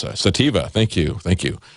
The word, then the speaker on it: sativa: sativa or sativa I don't know how to pronounce that sativa thank thank you thank you um so anyway